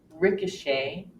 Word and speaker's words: ricochet: are several more exceptions another one occurs and words that come from the French language where we actually hear the long a sound for example Buffet ballet bouquet croquet Ricochet beret Americans have the